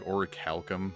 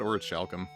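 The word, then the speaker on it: orichalcum: Calum or something that's how it's pronounced like oricalcum I always said or shalum I'm still probably going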